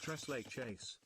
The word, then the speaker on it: tres leches: It's pronounced Tres Leches.